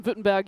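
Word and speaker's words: Württemberg: Ban Vittenberg United. Go by BV United. Yeah. And the the V is the W.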